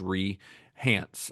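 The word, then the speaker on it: Rei Hance: name to Rehance, R-E-I, I think it's pronounced Rehance, and that's the name that she legally goes by now.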